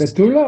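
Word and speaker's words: בתולה: I'm saying it It's a Besula. psula. Yeah, I'm saying that. I know it sounds like Besula. I know. The Ashkenazim don't say it right.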